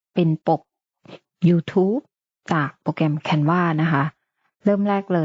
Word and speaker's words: Canva: พิมพ์ canv c n บาง คน ก็ อ่าน ว่า canva นะ คะ แต่ ตัว เอง จะ อ่าน ว่า canva นะ คะ จาก นั้น